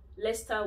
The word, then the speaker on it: Leicester: So those five examples, you have to change the cester to star. You don't pronounce it the way you spell it at all.